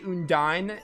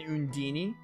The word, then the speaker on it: Undine: it I've just gotten I've just gotten used to saying undeen so I say Union I know people say un DIN and undini it just depends all the Tails games they pronounce it I think they pronounce it differently in certain Tales games I know Mila says undeen so that's why I say